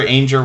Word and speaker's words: Ainger: Yes, Jennifer Ainger Rhymes with Danger was the name of the channel that is now Good Times Homestead with Jen and Steve.